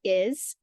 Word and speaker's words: is: try to tap out is I'm making the I sound but when I get to the S I'm making a z sound and we don't spell